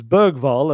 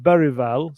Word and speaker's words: Bergvall: So Lucas Bergvall, as we always called him, in his video, he said Lucius Berival. I've had some Swedish people have since said to me that the Lucius isn't quite right. And it's like, well, that's what he said. I can't argue with him. That's kind of what he said. But Berival seems to be definitely the part.